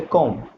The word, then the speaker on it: comb: अब बी जो होता है इसके अंदर साइलेंट होता है, इसे कॉम्ब नहीं बोलते, इसे बोलते कॉम्ब।